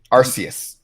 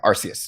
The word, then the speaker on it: Arceus: part um but it yeah it is like arus arceus yeah arceus yeah which makes me want to say icarus